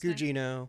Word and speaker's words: Gugino: It has Carla How do you pronounce her last Gugino. Gugino, okay.